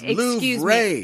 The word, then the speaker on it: Louvre: It's pronounced Louvre. Excuse me, Louvre. Don't say Louvre. That's not right.